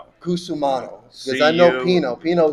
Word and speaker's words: Cusumano: I kasu, how do you pronounce I was fighting with my wife on how to pronounce your last name. Oh, it's uh Kusumano. Kusumano because I know Pino Pino is easy.